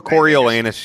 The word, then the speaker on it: Coriolanus: Coriolanus, yeah.